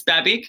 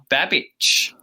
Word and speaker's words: Babic: but yeah it's it's babic but uh if you were in croatia you would pronounce it babbage oh okay so we'll